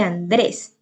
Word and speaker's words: Andrés: Lo mismo que Andrés, lleva el acento en la última sílaba, pero esto y termina en S y por lo tanto pues también se tilda.